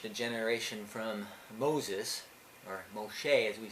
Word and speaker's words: Moshe: to them generation to generation from Moses or Moshe as we say his name in Hebrew and